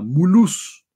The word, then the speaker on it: Mulhouse: que está en una ciudad que se llama mulus mulhouse se escribe Así que en inglés sería mbl House